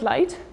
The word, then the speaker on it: light: And then we have the GH, which is actually silent in the word light. So if I will be a learner of English, and I would think that I will pronounce every word, every letter that I write down there, I thought it would be something like lig, but that's not proper English, right?